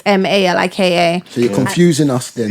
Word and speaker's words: Malika: So they look the same, they sound the same, they're pronunciation just spelled is- the different. Is it And no, spelled it's different? Malika, both of them.